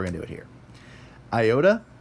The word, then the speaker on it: iota: Iota, it's either going to be I or E. Like that, depending on whether it's short or long.